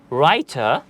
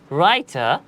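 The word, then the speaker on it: writer: এখানে প্রথমেই লেখা আছে রাইটার রাইটার যার অর্থ হচ্ছে লেখক রাইটারের আমি যদি স্পেলিং করতে যাই তাহলে এখানে বলা ডব্লিউ আর আই টি ই আর এখানে কিন্তু আমি ডব্লিউ এর উচ্চারণ করছি না আমি যদি বাংলা উচ্চারণের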